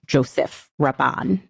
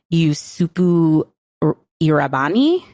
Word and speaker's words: Joseph Rabban: His name was not pronounced Joseph Rabban in India. It was something more like Yusupu Irabani, which I'm sure I am also butchering and not pronouncing correctly.